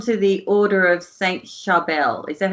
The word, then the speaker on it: Charbel: Let's move on to the Order of Saint Charbel. Is that how you say it? Yeah, the Order of Saint Charbel, yes, which is it was known as one of Australia's largest doomsday cults.